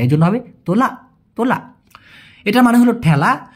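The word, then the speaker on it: tolak: শোনা যায় তোলা বলতেছে কিন্তু লাস্টে একটা ক ছোট্ট করে উচ্চারণ করতে হয়। এজন্য হবে তোলা।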